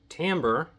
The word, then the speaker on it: timbre: Timbre is spelled Timbre. It reads like timber, but it's pronounced timbre.